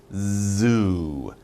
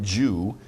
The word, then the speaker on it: zoo: you say this word pronunciation z z zoo zoo not jew zoo z you get some vibration so make your mouth wide like that and make your tongue vibrate zoo and you got it zoo okay next one